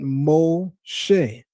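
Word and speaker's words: משה: It's pronounced O, and the shin dot on the top right of the shin, SH, making it SH instead of S, as well as the segol vowel, which are those 3 dots, look like a smiley face, those 3 dots, that gives you the eh sound, making an eh. So in pronouncing it, we get Moshe.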